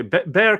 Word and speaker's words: Bexar: is in Bexar County pronounced bear what are you French with letters you don't pronounce okay Bear County basically San Antonio